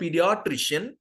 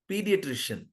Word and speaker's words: pediatrician: long w n I'll tell you how you pronounce this pediatrician pediatrician pediatrician you understand it's not ped Patrician pediatrician understood similar one more word here you go